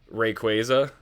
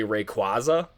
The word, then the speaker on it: Rayquaza: For those of you who don't know, my favorite Pokemon of all time is shiny Mega Rayquaza. I know a lot of you will say Rayquaza, but that's technically not how his name is